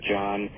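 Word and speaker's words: Jahn: landmark research of Robert John, and that's spelled J-A-H-N, Robert John, and and Brenda Dunn and their colleagues at Princeton University.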